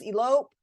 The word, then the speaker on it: elope: Please notice though that we don't always stress the first syllable in the words elope, erase, hotel, and unite. Those have second syllable stress.